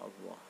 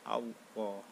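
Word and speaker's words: الله: Perhatikan tasdid yang terdapat pada kata Allah. Itu kalau membacanya itu double Allah ya. Allah, jangan enggak double ya.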